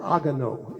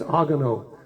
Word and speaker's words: Haguenau: Others came from, it's pronounced over there, they call it Haguenau, H-A-U. They don't pronounce the H at the beginning of words in French for the most part. It's not hors it's hors d'oeuvres. That's Haguenau. Those are pretty good sized cities.